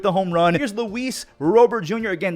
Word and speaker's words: Robert: That is how you say his name. He said it on the White Socks pronunciation page. It is not Robert. He's not even American. What are we doing calling him Robert?